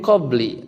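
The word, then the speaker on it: قبلِ: Nah, di sini penjelasannya ar-riwayatu bi khafdi qabli ya. Ar-riwayatu bi khafdi qabli. Jadi riwayat, salah satu riwayat itu membacanya apa? Dengan memajrurkan qabl bi ghairi tanwinin, tanpa tanwin.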